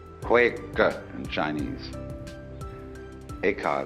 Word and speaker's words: Eka: Bodhidharma had a pupil by the name of Eka, Huike in Chinese. Eka is Japanese pronunciation, like Zen is the Japanese pronunciation of the Chinese Chan.